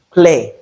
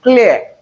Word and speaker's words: clear: Most people pronounce this as clear. That is a wrong pronunciation because in the transcription we have the ear sound and you have to articulate the ear sound in it when you are saying this. So this is clear, clear, not clear.